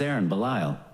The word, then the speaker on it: Ahren Belisle: everybody like they said my name is Aaron bile a perfect stage name it's spelled Aaron with an h and bile with an S I guess my parents